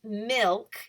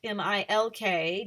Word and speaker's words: milk: cereal in the morning it's milk m-i-l-k down here at the bottom not milk m-e-l-k right so those would be